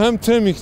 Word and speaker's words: Hamtramck: Ancak ilk bakışta buradaki adı okumakta zorlanabilirsiniz. Çünkü insan ilk gördüğünde nasıl okunacağını bilemiyor. Doğrusu hem Tremik diye okunuyor.